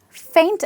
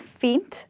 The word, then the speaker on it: feint: The next one feint and faint. Similar actually same pronunciation but different spellings.